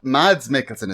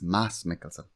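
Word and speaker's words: Mads Mikkelsen: saying it's not matt mads mickelson it's mass it's mass mickelson the d is silent yeah yeah yeah yeah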